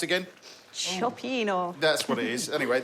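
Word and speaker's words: cioppino: I can't pronounce it again, so what's it pronounced again? Chopino.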